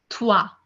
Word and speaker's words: trois: Okay, un, deux, deux, deux, trois. Three is pronounced as trois. Trois.